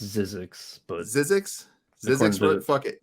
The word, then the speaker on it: Zyzzyx: I think it's pronounced Zizix, but Zizix Road.